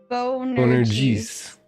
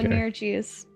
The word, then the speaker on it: Bonerges: And Bonerges. Okay. Bonerges. So it's almost like the whole Beetlejuice thing, but it's spelled like Betel Guys. So just pronounce the G as a J.